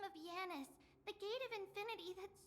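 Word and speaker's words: Janus: Like J is just pronounced Yi.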